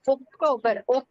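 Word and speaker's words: Oktober: September only September okay நம்ம வந்து அக்டோபர் அப்படின்னு சொல்லுவோம் அவங்க அக்டோபர் ஓகே வருது நமக்கு ஓசின்னு வரும் அவங்களுக்கு வந்து ஓகே அப்படின்னு யூஸ் பண்ணி அக்டோபர் அப்படின்னு சொல்லுவாங்க அக்டோபர் அக்டோபர் அக்டோபர் நவம்பர்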